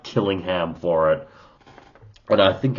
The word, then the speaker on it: Killingham: Now, I'm going with the pronunciation of Killingham. You can also call him Kirinham. Kiringham, I should say.